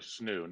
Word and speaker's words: Snoo: that snoo sn oh the snoo not the roo it is amazing best